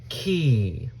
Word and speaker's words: key: EY at the end of the word makes a long E sound. So we've got E. Say it with me. E, key.